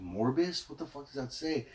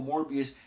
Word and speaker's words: Morbius: make it out and I was like like morbus yeah but then I heard one of the you know I heard them actually pronounce it and say it and I was